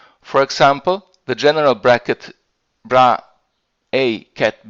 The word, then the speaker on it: bra: the Born rule as brackets, as, and you pronounce this here, bra psi ket psi, sort of.